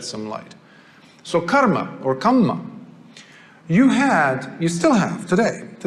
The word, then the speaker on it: kamma: I say karma because that's how they say it. We call it kamma, but it's the same thing. Now, they don't use the word karma as far as we understand karma, meaning action.